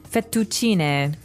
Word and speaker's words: fettuccine: What about fettuccine? Fettuccine. Oh, it's fettuccine. Fettuccine. In American, we say fettuccine.